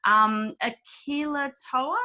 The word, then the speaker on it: Akilotoa: Akilah Tour, is that how I pronounce that?